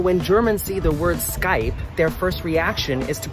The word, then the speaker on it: Skype: German see the word Skype their first reaction is to pronounce it Skype a but that's boss D fiamma heist Skype one syllable call it Skype I recently had an